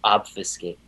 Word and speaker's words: obfuscate: Oh, obfuscate. Love the word obfuscate, Connor. That was, and it rhymes with facilitate.